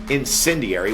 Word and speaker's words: Incendiary: At the time, I don't think I did a good job of pronouncing the name of the band, but it is Incendiary, which, by the way, there is a definition for this, where I had it here somewhere.